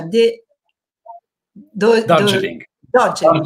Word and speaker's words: Darjeeling: E ha una bellissima famiglia, tre bambini e vive in Umbria, nel suo centro che si chiama, aiutami alla pronuncia, De, do, do, Darjeeling. Dogeling. Darjeeling.